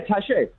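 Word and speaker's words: Taché: thank you i mean it has the accent so that's why i figured that it was tache but like you know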